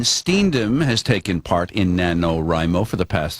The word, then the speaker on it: NaNoWriMo: say rimo Remo um Nano rimo just like if you're taking the beginning of each word okay nanoo and so